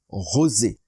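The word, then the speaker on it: ראה: prophète ici en hébreu c'est le mot rosé rosé qui s'écrit ch Z C Z mais qu'on prononce rosé et le mot rosé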